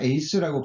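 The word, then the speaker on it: εἰς: 에이스라고 발음이 되는데 이 에이스는 어디로 향하여라는 의미를 가지고 있어요.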